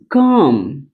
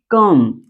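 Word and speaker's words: come: पहला होता है अ। इसे मैं बताने का प्रयास करता हूं। देखिए जैसे मैं कहूं एग्जांपल कहूं कम। इसे पढ़ते हैं कम।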